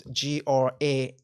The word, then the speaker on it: Granuaile: story, and also a correct way to say her name was Granule. So it's Granuaile, Granule, I think, or Granule or whatever.